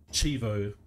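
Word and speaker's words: cheevo: this chivo so um that that's my mispronunciation so chivo c-h-e-e-v-o that's like the colloquialism for achievement retro achievement so um I'm cleaning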